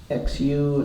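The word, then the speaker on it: 虚: they talk about chief Xu it's pronounced shoe first time which means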